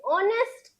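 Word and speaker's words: honest: an apple an एग एन ऑनेस्ट मैन ऑनेस्ट का pronunciation तो ओ से ही शुरू होता है ना प्रोनंसिएशन साउंड वोवेल साउंड देखिए यहां पर साउंड लिखा है साउंड वोवेल साउंड से शुरू होगा तो आप वहां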